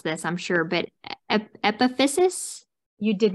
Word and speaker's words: epiphysis: I'm going to mispronounce this, I'm sure, but epiphysis? You did not mispronounce it.